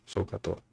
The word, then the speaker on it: SOHCAHTOA: La H, como es muda, no se dice, por eso SOHCAHTOA.